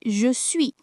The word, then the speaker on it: je suis: But when they conjugate it, they say je suis, and the S appears even if it's sometimes not pronounced.